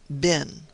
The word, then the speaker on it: been: hit upon lay in the pronunciation of the word bin, which the English invariably make to rhyme with green, and we northerners, at least in accordance, I think, with the custom of Shakespeare's time, universally pronounce bin.